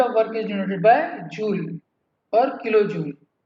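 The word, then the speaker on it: joule: The unit of work is denoted by जूल और kilo जूल। Someone pronounce as जाउल और kilo जाउल। समझे? Work की unit क्या होगी? जूल, या जो जाउल भी कहते हैं, या किलो जूल।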